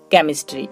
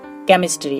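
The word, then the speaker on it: chemistry: মত হয়ে থাকে যেমন কেমিস্ট্রি দেখুন এখানে আমরা সি এইচ পাচ্ছি কিন্তু এখানে তার উচ্চারণটা হচ্ছে ক এর মতো কেমিস্ট্রি এর অর্থ হচ্ছে রসায়ন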